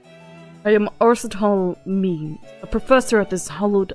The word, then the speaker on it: Aristotle Means: Arsetal? I am Arsetal Means, a professor at this hallowed hall of learning.